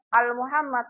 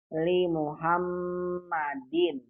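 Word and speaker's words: لِمُحَمَّدٍ: Ini bacanya bukan Al-Muhammad, bukan. Kalau Al-Muhammad ada alifnya. Kalau nggak ada alif berarti ini li. Berarti bacanya li Muhammadin.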